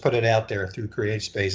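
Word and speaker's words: CreateSpace: And I would always mispronounce it, and everyone has to correct me, and I always say create a space, and they're like, no, it's create space.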